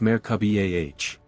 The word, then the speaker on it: Merkaba: This is the Merkaba, pronounced Merkaba.